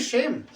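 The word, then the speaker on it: shame: यू are from Hindi speaking belt, सेम ऑन यू, सेम ऑन यू। क्यों सेम की शेम? यही है pronunciation, शेम ऑन यू।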